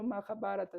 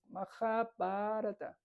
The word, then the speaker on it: Mahabharata: Y no se dice, por ejemplo, Mahabharata, es Mahabharata. Se alargan algunas palabras, ¿no?